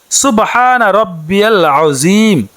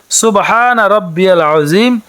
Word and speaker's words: সুবহানা রাব্বিয়াল আযীম: রুকুর তাসবিহটি হচ্ছে সুবহানা রাব্বিয়াল আযীম। সুবহানা রাব্বিয়াল আযীম। সুবহানা রাব্বিয়াল আযীম। বাংলাতে উচ্চারণটি হচ্ছে সুবহানা রাব্বিয়াল আযীম।